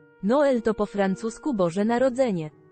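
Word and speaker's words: Noël: w ciekawym czasie Noel to po francusku Boże Narodzenie Kropki nad e oznaczają że wymawia się dwie sylaby Jest to dość częste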